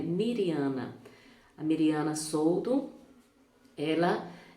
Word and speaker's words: Mirjana: ou no vídeo passado eu falei mirjana mas a forma correta de pronunciar o nome dela é Mariana a Mariana Souto ela